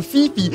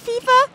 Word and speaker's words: FIFA: a part of the Fifi and play stacking uh Morton don't you mean FIFA yeah you said it wrong I don't care it's